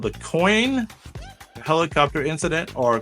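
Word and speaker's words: Coyne: Well, I I I'm going to have trouble pronouncing this. It's called the coin helicopter incident or coney.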